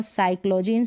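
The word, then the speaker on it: psychology: राहत है क्या एन फिर देखिए यहां पर है निमोनिया साइकिक और साइकोलॉजी स्पेलिंग में आप ऐसे ही पढ़ सकते हैं जो पी है वह साइलेंट है निमोनिया साइकिक और साइकोलॉजी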